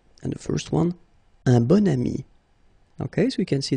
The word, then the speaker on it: bon ami: And the first one, un bon ami. Okay, so you can see that here you've got this adjective, bon, okay, and then you pronounce it bon ami when you make this link.